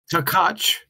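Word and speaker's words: Takács: do this live uh takach is how you pronounce his last name tach okay and yeah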